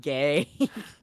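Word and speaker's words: gé: um hold on where gay pronounced gay is Irish for Goose goose theoretically that means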